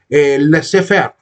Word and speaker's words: laissez-faire: El egoísmo que se sostiene en este postulado francés que se debería pronunciar laissez-faire.